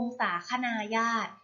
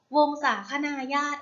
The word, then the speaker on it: วงศาคณาญาติ: สอน พวก เรา นั่น ก็ คือ คำ ว่า วงศา คณา ญาติ วงศาคณาญาติ อ่าน ว่า วงศา คณา ญาติ วงศาคณาญาติ ประกอบ เป็น